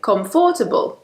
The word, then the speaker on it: comfortable: They want to say every syllable, so they say comfortable. But really, it's comfortable. Comfortable. So, it's not comfortable, it's just comfortable. Okay? So, we actually lose a syllable there.